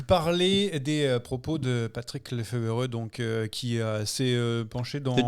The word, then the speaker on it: Lefevere: On va donc parler des propos de Patrick Lefevereux, donc qui s'est penché dans. Déjà, point prononciation, Olivier, on est sûr de Lefevereux ?